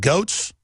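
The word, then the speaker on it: Goetz: New York subway yeah Bernard uh did you pronounce it goats GS that's right Bernard GS we had a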